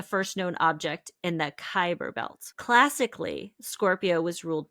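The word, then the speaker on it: Kuiper: I heard it pronounced a few times. And I was like, I know it's Kyber, but it's not spelled that way.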